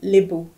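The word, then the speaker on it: Lebou: an interesting thing because my surname is labus the people of angor are Liu so which is spelled l e b o u my son name is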